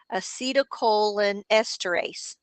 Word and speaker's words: acetylcholinesterase: But so then you could say, instead of it's pronounced E, E or acetylcholinesterase, let's see, acetylcholinesterase.